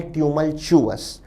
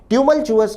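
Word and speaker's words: tumultuous: Pronunciation पर भी ध्यान दें विद्यार्थी, शब्द का उच्चारण है ट्यूमल्चुअस। ट्यूमल्चुअस का अर्थ है उथल पुथल से भरा या उठा पटक से भरा।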